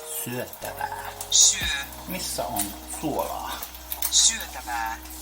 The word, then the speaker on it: syötävää: Pay close attention to the vowel sounds. Listen and repeat. Syötävää. Syötävää.